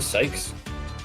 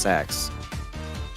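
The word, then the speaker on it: seax: sword out of one it never pronounced the sikes no no it's it's pronounced sex pronounce sex i would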